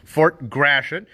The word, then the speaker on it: Fort Gratiot: don't want gratitude and they don't know how to say it but fort grashan named for charles gratitt